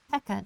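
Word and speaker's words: Peaca: This one I call Pekka dungeon. There's there's an A in there, but I pronounce it Pekka Dungeon. I think of it as a silent A.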